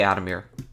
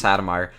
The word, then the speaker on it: Adomir: You guys pronounce Adomir? I say Adam. I'm pretty sure that's like the actual pronunciation. I could be wrong though. I used I used to think it's Adam Meyer. I don't know why, but I used to think it's Adomire.